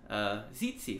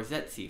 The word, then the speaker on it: tsetse: gonna look at is tsetse fly or zetsu fly can be pronounced different ways this is a fly